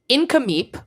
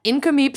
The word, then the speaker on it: Nk'Mip: did want to shout out a winery called incomeep which is spelled NK apostrophe MIP this is the first